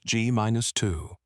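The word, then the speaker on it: g−2: often referred to using the shorthand G2, pronounced G minus2.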